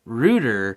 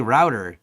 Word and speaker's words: router: is oh router is how i say it rooter is how um the the people so i i say router it is a because it routes but they also say it roots things the pronunciation different that